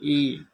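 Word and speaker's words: 一: Bangla 1, China ভাষায় উচ্চারণ হবে ই।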